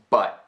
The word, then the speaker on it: but: She leaves but completely open, but without the sound of a T.